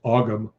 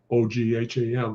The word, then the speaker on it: Ogham: It looks like it's pronounced Ogham, O G H A M, but it's pronounced Ogham.